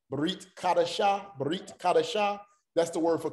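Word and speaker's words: ברית: So what the Shiva is telling you when it's used as a vocal Shiva is you hurry the pronunciation or you shorten the pronunciation. Don't make the long ah sound.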